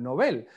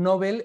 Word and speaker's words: Nobel: fundación del español urgente se debe pronunciar como palabra aguda en español novel aunque la producción novel es también muy común en españa' bueno pues son los